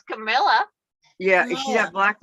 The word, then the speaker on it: Kamala: that I think it's Camilla yeah is he that black lady it said like like Pamela but Kamala yeah yeah because boy